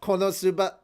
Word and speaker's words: KonoSuba: blessing on this Wonder no you said it wrong Kon animes do what you said it wrong konosuba ah yeah exactly you got to say it like they do with the commcial promo